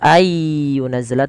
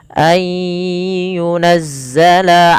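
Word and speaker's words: أن ينزل: Maka ayyunazzala ya. Tidak dibaca ayyunazzala tapi ayya sambil dimasukkan ke rongga hidung. Ayyunazzala alaikum.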